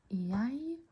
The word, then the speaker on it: jeg: We make the J sound in jeg, deg, meg.